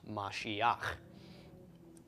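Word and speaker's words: משיח: tok under the hate so we've got ma she instead of ma she huh this is Mashiach which is the anointed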